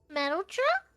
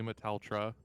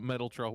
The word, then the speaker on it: Meteltra: name maybe it says metal truck I don't know if I'm pronouncing that right please tell me if I'm pronouncing that wrong it's technically meteltra thank you But Metal trough works as well I mean she's made